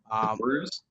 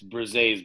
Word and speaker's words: Bruzes: Bruz? Is it Bruze? Bruzy? Nobody says it right, but it's Bruzes, but that's why I